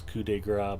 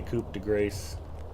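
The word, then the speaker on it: coup de grâce: run away sir girth I know how to pronounce coup de Gras thank you it's funnier to say Coupe de grace don't follow SportsBall I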